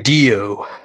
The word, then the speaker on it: DiDio: Dan said oh god Dan DiDio how are you pronounce it it's deal the deal it was people were blaming